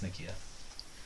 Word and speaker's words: Nakia: It's Nakia.